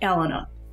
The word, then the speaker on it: Allena: Before we go on, it's pronounced Allena. Allena. Allena. Just say Alan with the A at the end.